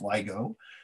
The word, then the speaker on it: LIGO: that help scientists at ligo that's pronounced ligo their search for gravity